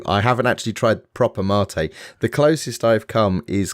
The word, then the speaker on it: mate: It's Mate, pronounced Mate as in Carmat, the letter A.